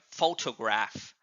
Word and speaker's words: photograph: other examples here like p h o gets more stress here photograph and similarly in the word